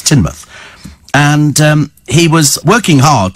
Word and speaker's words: Teignmouth: It's spelt Tynemouth, but it's Teignmouth.